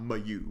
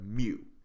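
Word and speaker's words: μ: greek letter mu well not my u but mu so m u that's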